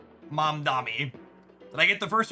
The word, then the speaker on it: Mamdani: Mamdani. Did I get the first one right? Zoran? Shout out to asking how to pronounce something and getting 3 different phonetic descriptions from chat.